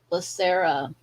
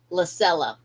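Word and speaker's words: Lysella: And sometimes we have to do like the female character in this episode, Lacera. Let me see. Did I say her name right? Lacella.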